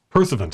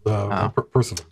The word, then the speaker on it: Pursuivant: Pursuivant is, I believe, how you pronounce it.